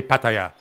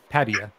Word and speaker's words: Pattaya: Pattaya or kataya Patia how do you say it yeah that's it guys that's it one and done that is how you say Pattaya do I say it right yeah yeah all right so you got to get your man Alex saying it right come on Alex you gotta stay at the Thai way oh yeah no Pat